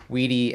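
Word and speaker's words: Widi: And I also learned how to pronounce everyone's names and what they typically go by. So we have Marsha, Wedi, and City.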